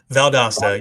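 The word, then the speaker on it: Valdosta: So So now how do you pronounce Is it Valdasta, Georgia? Valdasta.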